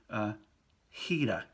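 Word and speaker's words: gira: heavy boss right now if we have G I it is equal to ji in pronunciation also so we might have the word Heda Heda like something turns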